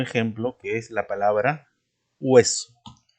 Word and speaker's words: hueso: Y tenemos también un último ejemplo que es la palabra hueso, que también se escribe con H, pero no se pronuncia por ser una letra que no tiene sonido fonético. Bien, es muda.